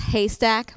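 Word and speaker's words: HASTAC: So I manage a website that has a funky acronym, and it's pronounced Haystack, but it's spelled totally differently, H-A-S-T-A-C.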